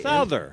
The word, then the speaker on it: Souther: Souther.